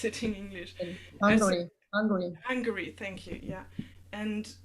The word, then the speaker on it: Hungary: You can see it in Germany, in Ungarn, I don't know, how do you pronounce it in English? Hungary.